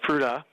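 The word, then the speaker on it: Fruita: say we pronounced by fruta so just like it sounds the word fruit plus a on the end and the history of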